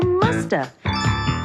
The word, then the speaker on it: must have: And sometimes we don't pronounce the V. And so you hear musta.